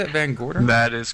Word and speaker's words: VanGorder: VanGorder?